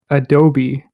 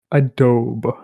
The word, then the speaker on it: Adobe: correctly because, and hear me out here, it's pronounced Adobe. Whereas when Reza says it, he says Adobe.